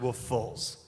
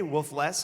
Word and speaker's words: Woofless: so it's spelled Woofless yes but it's actually pronounced wolf FS wolf FS yes uh and that's the thing is like all run into people like oh man hey wolf Les I'm like you have never seen one of